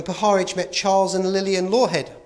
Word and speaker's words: Lawhead: But that changed in 1955, when Poharich met Charles and Lillian Lawhead, pronounced it right for a change, a couple who were prominent in the George Adamski UFO contactee scene.